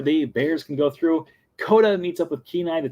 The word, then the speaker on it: Koda: duh that's how you say his name yeah coda is the little bear and brother bear um